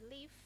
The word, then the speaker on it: leaf: Pengucapannya lebih halus dan bibirnya itu menutup leaf. Leaf, gigi menemui bibir, seperti itu.